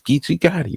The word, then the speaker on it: Geechee Gotti: what he was saying, people were mispronouncing his name. They were sometimes like, and it's like, yo, and we like, nah, nigga, that's Geechee Gotti, man.